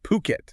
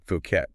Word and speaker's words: Phuket: And just so everyone's clear, it's Puket, not Phuket. Super common mistake.